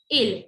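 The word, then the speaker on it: ils: S is silent, so we never pronounce this.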